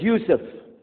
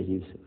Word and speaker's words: Jusuf: My name is Jusuf. Did you say Jusuf? Let me say Jusuf.